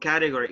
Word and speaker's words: category: first category the first category guys the pronunciation is category category category category you have the stress on the first syllable category category no caddy